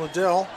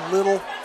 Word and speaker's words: Liddell: Also, Ashton Liddell. Yeah, and watched that ESPN broadcast last week. Oh my gosh. Mispronouncing all our boys' name. And Ashton Little.